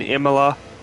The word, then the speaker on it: Imola: I know it rains in Imola.